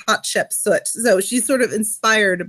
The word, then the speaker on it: Hatshepsut: No, he calls her Hatshepsut, and her name is Hatshepsut. Right, okay. So but it's like, it's pet. The important thing is it has to rhyme with pet in the poem.